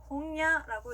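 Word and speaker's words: 本屋: 그 다음은요, 니은과 이응의 중간 발음이에요. 어떻게 들었을 때는 니은처럼 들릴 때도 있고 이응처럼 들릴 때도 있는데요. 이 글자들 아행, 하행, 야행, 와행 앞에 왔을 때, 이 글자들 아행, 하행, 야행, 와행 앞에 왔을 때, 그리고 응이 단어의 맨 마지막에 왔을 때는 니은과 이응의 중간 발음으로 소리 납니다.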